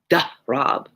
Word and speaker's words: Darab: It's really Soraya and Shamsi and Shireen and Darab, but I make them American sounding.